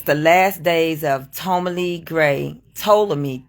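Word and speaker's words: Ptolemy: the last days of Tomy gray to me t o l e m y but the p is silent but it's spelled PT o um l e m y I didn't even spell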